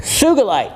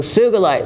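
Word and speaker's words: sugilite: how to correctly pronounce sugalite it is with a hard G as in geese that is the word they use geese so sug light look at that and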